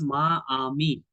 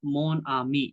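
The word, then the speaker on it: mon ami: We must use the masculine form of adjectives because we have to make the pronunciation smooth. We, for example, ma, ami.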